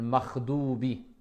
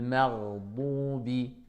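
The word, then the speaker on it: المغضوب: On va pas dire le makhdoubi. Makhdoubi, le mar, d'accord. Il faut qu'on sente le r, léger. R, le mardoubi, d'accord, le rain.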